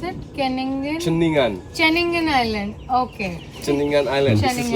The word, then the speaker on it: Ceningan: It's Kenningen Just or cross the how do you pronounce it? Kenningen. Cheningan.